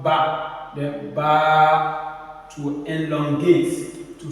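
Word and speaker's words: ب: alif Al alif the next one is ba ba ba say it after me ba so the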